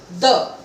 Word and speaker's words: deux: Now DEUX becomes the. Now in the French language, the last consonant of any word is not pronounced. So X is not pronounced and EU has a sound of A, so it becomes the.